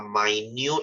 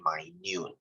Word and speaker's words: minute: organism English lesson guys this is pronounced as my new you might say so is this minute when we use it to describe time yes it is pronounced as minute or when we say something is really small we say my noon the more you know